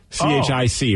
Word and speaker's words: Chic: I know it's like is it pronounced Chic or chick c-h-i-c right it's probably Chic I mean yeah c-h-i-c is Chic yeah that was the